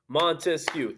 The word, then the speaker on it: Montesquieu: to overthrow that government Montesquieu Montesquieu three syllables three branches of government